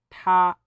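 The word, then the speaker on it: 她: Es decir, para decir él y ella se pronuncia ta, ta.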